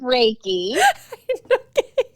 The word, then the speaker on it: Reiki: What's a reiki? No, it's reiki.